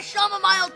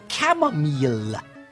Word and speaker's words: chamomile: whilst I drink my shamama mile tea um father I believe your tea is pronounced chamomile this is an outrage